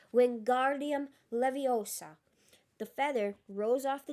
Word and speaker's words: Wingardium Leviosa: Wingardium Leviosa, he shouted, waving his long arms like a windmill. You're saying it wrong. Harry heard Hermione snap. It's Wingardium Leviosa, making the gar nice and long.